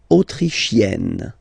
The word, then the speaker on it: autrichienne: L'Autriche, autrichien, autrichienne. So same thing here. You get E and then double N. You open the E.